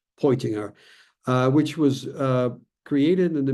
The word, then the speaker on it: Peutinger: Many of you will be familiar with it, the Peutinger map, if I pronounce it in the German fashion, Peutinger, which was created in the mid-4th century AD, this again being a reconstruction.